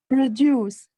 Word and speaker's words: produce: Which syllable is stressed? What type of word is the it? First. Why? The first. It's a noun.